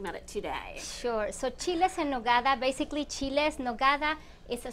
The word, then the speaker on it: chiles en nogada: Pronounce it for me. Sure. They are called chiles en nogada.